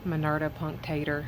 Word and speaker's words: Monarda punctata: Um the Monarda punctata. Apparently, I was saying it wrong before. Um it sounds ridiculous however you pronounce it, so whatever. Monarda punctata, that's what it sounds like.